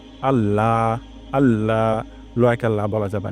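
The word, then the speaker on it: الله: প্রথম শব্দটি হলো আল্লাহ এখানে শক্ত করে উচ্চারণ করতে হবে এমন হবে না আল্লাহ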